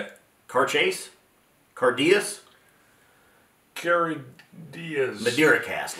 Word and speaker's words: Cairdeas: pointed out or he gave us the correct pronunciation yeah if I remember right he was saying caras c yeah C it sounded like C Chase